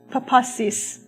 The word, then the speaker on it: papasis: front of me as I try to correctly pronounce the word. Papasis? How did I do, Philip? Papasis.